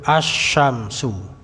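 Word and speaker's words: الشمس: Huruf qamariyah jelas al-qamaru. Huruf syamsiyah lebur asy-syamsu. Ya.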